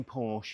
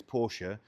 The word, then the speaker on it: Porsche: And also, anyone that's listening going, you shouldn't say Porsche, you should say Porsche. Let's have that conversation, because if we're going to pronounce this one correctly as Porsche, we should pronounce that one as BMW, and if you don't do that, Porsche is quite acceptable.